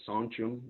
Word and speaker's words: sachem: The word sachems is something that Sanchum is how we pronounce it in our language, one of many dialects